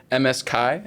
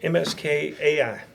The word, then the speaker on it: MSKAI: MSKI, is that how it's pronounced? MSKAI.